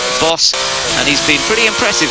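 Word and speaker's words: Baas: Boss, apparently the way you pronounce the American's name, B-A-A-S, but pronounced Boss.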